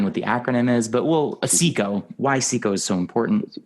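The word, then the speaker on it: SICO: It's pronounced Seiko.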